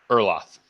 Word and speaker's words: Erloth: Erloth. Awesome. You're some of the pronunciation I'm getting right, and I'm happy for that.